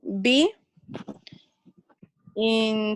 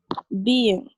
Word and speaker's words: being: We pronounce it be-in. Bien. Being. She's being annoying, for example. She's being stupid, for example. They're being noisy. So being. Because otherwise it sounds like you're saying been, right?